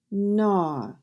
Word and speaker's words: gnaw: N-aw, gnaw. The G is silent.